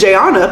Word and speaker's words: Jayonna: Like, my name is Jayana, but it's spelled, like, I've met somebody before, their name is Jayana, pronounced Jayana, but it's spelled Jayonna. Instead of Uanna, it's Onna, so it's Jayana.